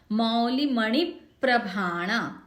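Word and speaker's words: मौलिमणिप्रभाणाम्: मौली मणि प्रभाणा, इसको भी अलग अलग नहीं बोलना है।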